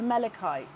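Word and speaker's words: malachite: Um Oh, is it pronounced Melikite? Oh, that's strange because the ch to me is a ch. I am most likely wrong, Sam.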